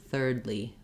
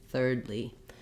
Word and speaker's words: thirdly: more difficult to say basically I need the same position for the ER third and then I'm just adding the UL and the E sounds third thirdly thirdly um for some people